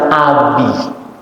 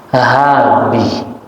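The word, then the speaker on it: أبي: Ternyata selama ini bacanya bukan abi, habi.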